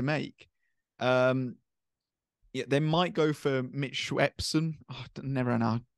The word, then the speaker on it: Mitchell Swepson: They might go for Mitch Swepson. Oh, I never know how to say his name. You're fine, Mitchell Swepson, yeah.